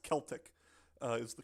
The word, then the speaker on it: Celtic: Um I think they said it's pronounced Celtic uh is the correct term. Celtic. Wonderful. I I apologize again for my butchering of every single word on this stream. Um the old Celtic tribes uh placed him there.